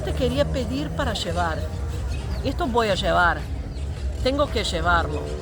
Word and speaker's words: llevar: quer pedir para levar gevar tem que gevar é para gevar assim que você vai falar tá bom gevar Por que que é gevar porque é com dois eles Olha tudo isso que